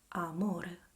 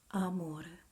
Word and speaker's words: amore: See the open mouth A and nothing else. You can find A in words as albero, that is a tree. Say it with me. A, albero. Or, for example, in amore, amore, a, amore.